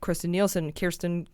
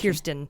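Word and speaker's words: Kirstjen: And that's what it sounds like Kirsten Yeah, Christian with a J. It's Kirsten.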